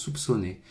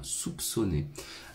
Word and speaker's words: soupçonner: Ouais, on prononce le P, c'est assez léger, mais on le prononce soupçonner. Je soupçonne que ce soit comme ça, soupçonner.